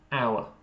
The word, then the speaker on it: our: It sounded like you said or and yeah. But the pronunciation is more like our.